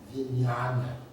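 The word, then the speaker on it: vijñāna: So this consciousness, vijnana in Pali, V-I, and then N-N with the little squiggles on top of it, so that's Vin, and with a Y, Yana. So in Sanskrit, it's easier to pronounce, I think, Vijnana, V-I-J.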